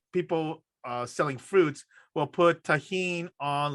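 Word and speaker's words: Tajín: One of them was an easy one, because one of them was, he says, put tahini. Do you know what tahini is? It's spelled Tajin.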